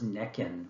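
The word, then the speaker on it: Nekhen: slide, the Egyptian name for this town was Nekin, which actually seems to be preferable to me to pronounce because I hate saying Hierakonpolis.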